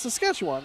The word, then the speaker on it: Saskatchewan: launch time window for sls and try to pronounce saskatchewan it's saskatchewan it's easy sketchup come on yeah quit giving